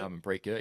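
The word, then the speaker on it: Harmanpreet Kaur: I know Himanpreet Kaur, is that how you pronounce it? Himanpreet Kaur, yeah.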